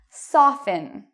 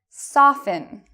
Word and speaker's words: soften: So even though you see T-E-N, T-L-E, T-E-N, you do not pronounce the T in these words.